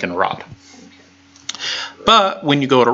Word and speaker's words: rho: Rod. Rod. Yeah. But for pronouncing the letter, it's ro. Yeah, Right. ro, with a long O sound. Ro. Ro. Like row, row, row your boat gently down the stream.